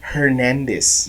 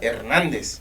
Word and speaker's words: Hernandez: whole thing is that they called her Cassandra Hernandez no what is that man I thought we were Latinos man I thought we were candra ernandez we're Metropolitan City On the Border if angel